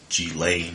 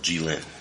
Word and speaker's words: Ghislaine: on a side note wikipedia has got it says pronounce it uh g lane or g-lin g-lin yeah i've heard it both ways well why are there